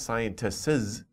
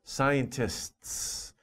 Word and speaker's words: scientists: scientists artists right so don't make an extra syllable for the s at the end it's not scientists no it's just scientists scientists okay scientists artists